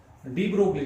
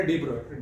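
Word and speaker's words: de Broglie: Dual nature of matter, इसी के regarding डी ब्रोगली, जो हम लिख रहे हैं डी ब्रोगलिस की जो है एक्चुअल प्रोनाउंसिएशन हो क्या, डी ब्रोय।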